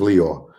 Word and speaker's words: Lyor: __ ] leo cohen liar cohen oh i pronounced it wrong i'm sorry that's how the preacher called him liar cohen um it is leo um how many y'all